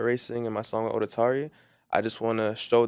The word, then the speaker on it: Odetari: huh how do you say the name odari odari so I wanted to make sure I said